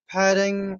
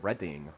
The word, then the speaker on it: Redding: Right, Jody Dodie, Redding. right? Like Jodie, right? So it's Dodie and then Redding, right? Like the Oh, town from Far Out.